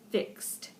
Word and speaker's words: fixed: the water's edge again that's one of those tricky Ed endings and so it's just pronounced fixed and one more disappears